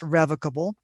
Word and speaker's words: revocable: the left hand side a trust could be revocable or you'll hear it pronounced revocable it means that the